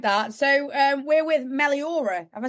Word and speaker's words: Meliora: nice I like that so um we're with Melora have I said it right you have yeah